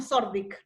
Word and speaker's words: Thorndike: El THO sería como una Z que hay que pronunciar, o sea, si lo quieren decir como corresponde, sería como Zordik, más o menos.